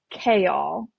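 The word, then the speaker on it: Chaol: And I have no idea how to pronounce his name. Oh. Okay, so it's Kale.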